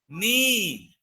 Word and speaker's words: knee: So in all these three words, K is pronouncing, whereas in the first one, we don't pronounce. So the right answer is knee.